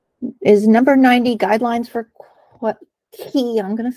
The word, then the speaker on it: Quay: Our next randomly chosen is number 90, guidelines for Quay, I'm going to say it right, even though everyone calls it Quay, usage for CentOS SIG.